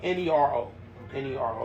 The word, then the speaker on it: Nero: Nero, Nero, like zero.